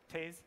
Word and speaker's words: Tez: The only problem we hit is that we kind of got ahead of Taze, or Tez, depending on your pronunciation, because a lot of the backend stats are just not available.